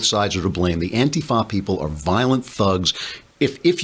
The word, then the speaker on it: Antifa: They put the accent on the wrong syllable. It's Antifa now beating up people in